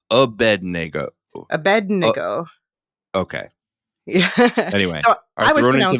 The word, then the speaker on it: Abednego: so first of all thank you to Emily for correcting my pronunciation Abednego um yeah I just